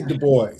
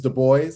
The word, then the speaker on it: Du Bois: I say Du Bois. Pronunciation is Du Bois.